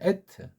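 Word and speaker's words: אֶת: 에트. 이걸 그러진 않아요. 받침이 없다니까. 우리말 빼고는요. 그렇게 안 해. 에트라고 한다니까. 의자도 없으면서 에트. 그러니까 에트 이렇게 우리가 좀 확실하게 발음 못하고 에트.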